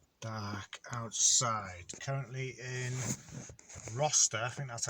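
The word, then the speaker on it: Rocester: Currently in Roster, I think that's how you pronounce it. So it looks like Rochester, but it's without the H, so I think it's pronounced Roster in Staffordshire.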